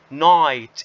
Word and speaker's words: night: إذا إحنا هون ال GH على طول ما بنشوفهاش كأنها مش موجودة إطلاقا. So we neglect this or these letters okay and jump over it. مباشرة بنقفز فوق هذول ال GH ما بدنا إياهم نهائيا ولا كأنهم موجودات. نقرأهم night.